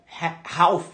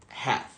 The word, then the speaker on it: half: vê isso aqui escrito você acha que a pronúncia seria Half né Half só que na verdade a pronúncia é have have isso acontece com várias